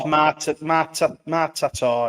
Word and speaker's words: Martator: It's actually it's Martator. It's pronounced. Martator, yeah. There's a Matata and a Martator.